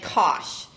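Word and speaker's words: cosh: say cinch but anyway and Kos uh rhyming with gosh okay so this part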